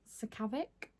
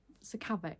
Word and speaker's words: Sakavic: And finally, we have a book that I've actually read, and this is The Foxhole Court by Nora Sron Pronunciation. Sakavic. Yes. Yes. Sakavic.